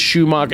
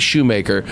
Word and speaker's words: Shoemaker: They mispronounce it. They put a umlaut like I'm off the boat from Austria, or they'll say Greg or Chris Schumacher. It's Craig Shoemaker.